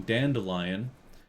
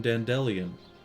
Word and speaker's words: Dandelion: who's reading it apparently instead of saying dandelion for the first couple books at least he pronounced his name Dan DeLeon why he would do